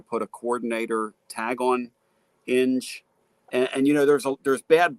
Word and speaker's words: Inge: Inge. I-N-G. Inge.